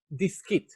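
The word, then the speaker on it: דיסקית: Diskit. It comes from the word disc. It's a small disc, diskit.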